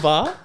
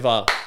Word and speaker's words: Va'a: Wait, is it Bar? Yeah. VA. Yeah. Oh, sorry. I've been saying your name wrong this whole time. Va. Yeah. Var, give it up one time.